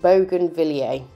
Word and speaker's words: bougainvillea: as i normally do but it's actually called bougainvillea now i think that's how you pronounce it um please correct me if i'm